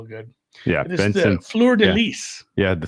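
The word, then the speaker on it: fleur-de-lis: Yeah, it is the fleur de lis. Yeah, the fleur de lis. Even in French, you don't pronounce the S. I say the S because I'm from Minnesota.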